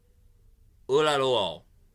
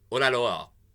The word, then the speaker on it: Oyelowo: David Oyelowo. Oyelowo. I think I pronounced it right. Oyelowo.